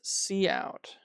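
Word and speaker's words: cout: It it pronounced see out.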